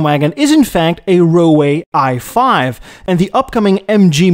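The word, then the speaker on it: Roewe: For instance, SIAC bought failing British Rover and turned it into the Chinese Roway. That's how the Chinese pronounce the brand.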